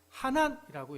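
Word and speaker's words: חָנַן: 은혜에 해당하는 히브리어 단어는 하난이라고 이렇게 발음을 합니다.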